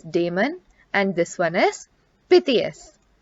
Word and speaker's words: Damon: pronounced syracuse or syracuse this word is demon and this one is